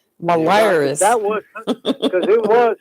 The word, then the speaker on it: Belarus: You should have said Belarus. Belarus.